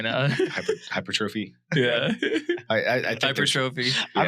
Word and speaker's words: hypertrophy: Hypertrophy.